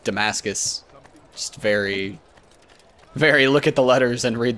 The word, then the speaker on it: Damascus: I've really been uh pronouncing demask wrong and definitely going with Damascus just very very look